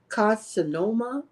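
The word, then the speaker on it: carcinoma: was called clear cell Reno carinoma now I'mma spell that for you c a r c i n o m a carinoma carinoma i was say and it had um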